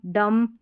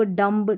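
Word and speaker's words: dumb: Baum, com, टॉम, डम, lamb, इस तरीके से पढ़ना है। Bomb, comb, tomb, डम्ब, lamb, इस तरीके से नहीं पढ़ना। B को आपको प्रोनाउंस ही नहीं करना है, साइलेंट है यहाँ पर।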